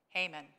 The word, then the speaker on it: Haman: Haman.